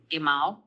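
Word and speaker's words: גימל: Gimmel. That is the gimmel. Also gbakat letter. It's got the dot without the dot. Gh. G with the dot. G. Hard G.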